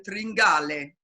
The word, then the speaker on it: Tringale: And yesterday we learned that actually we should say Jane Tringale. Et nous avons appris hier après la conférence qu'en réalité ça devrait se prononcer Jane Tringale. Because she is of Italian background.